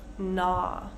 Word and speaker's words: gnaw: Let's see, let's go to some words with a silent G. Silent G. We have sign, champagne, gnaw, high, light, rain, though, and through.